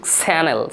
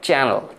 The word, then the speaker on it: channel: আচ্ছা, তারপর বললাম যে চ্যানেল চ্যানেল চ্যানেল, ঠিক স্যানেল স্যানেল, চটাকে স করতে বলিনি, ওটা চ্যানেল চ্যানেল, এটাকে চ্যানেল বলতে পারেন।